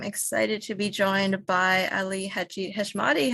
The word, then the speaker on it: Hadji-Heshmati: hi my name's Ali heshmati and you're watching the permanent rain press permanent rain Press today I am excited to be joined by Ali hashmati how are you good thank you thank you